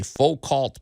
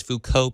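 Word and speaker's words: Foucault: Joe I think it's Fuko pendulum named after Michael Fuko the French so it's a French pronunciation but either way folks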